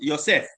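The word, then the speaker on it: יוסף: And Joseph's name in Hebrew is pronounced Ysef.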